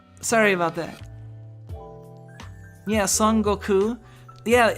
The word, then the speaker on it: Goku: it's more like the there's a second u like it's a lengthened vowel at the end so like yeah there's actually like the emphasis on the end there for if you're